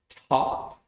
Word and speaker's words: taupe: Top? Yes, Taupe. Top. How do you pronounce that?